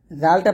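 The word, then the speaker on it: ذ: জালটা পাতলা হবে, জিহ্বার আগা সামনের উপরের দুই দাঁতের আগার সঙ্গে লাগিয়ে জালটা পাতলা উচ্চারণ করবেন।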